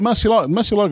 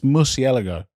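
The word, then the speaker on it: Murciélago: Like, well, like Mercilo, isn't that how you say it? It's Merc. It's Mercielago.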